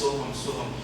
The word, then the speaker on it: Soham: Just 2 syllables you have to remember, so and hum.